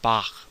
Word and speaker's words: Bach: It's a velar fricative, as in the German name Bach, or some pronunciations of Hanukkah, right?